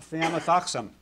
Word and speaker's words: thiamethoxam: How about thiamethoxam?